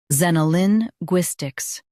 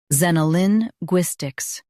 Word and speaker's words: xenolinguistics: Both US and UK have the same pronunciation of this word, XENOLINGUISTICS. Now read the syllables shown on the screen naturally. Zen. Oh, Lin. Gwis, ticks. XENOLINGUISTICS. Stress GWIS and keep Zen soft.